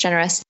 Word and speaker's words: Gener.us: And he has a nonprofit called Safe World, and he's also has a startup called Generous, and it's Gener.us, but it's pronounced Generous.